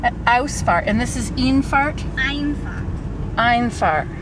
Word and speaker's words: Einfahrt: Einfahrt. The E and the I are backwards.